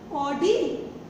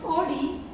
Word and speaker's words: Audi: When I say AU, I just create a small oval shape. Means I round my mouth and then D, or D.